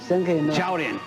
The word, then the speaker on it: 超人: Chaorin.